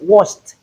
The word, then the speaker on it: watched: The past tense form of kiss is kissed. We have the t sound at the end.